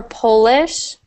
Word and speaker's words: Polish: So for Polish, it's as if the first part of the word is Pol with an E. And then for Polish, it's as if you have two L's.